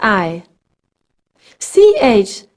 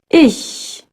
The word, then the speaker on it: ich: Schmidt ich is I CH sounds a bit like English SH but instead of rounding your lips as in show you pronounce it with the lips stretched ish one trick to keep the back of your tongue up come on repeat it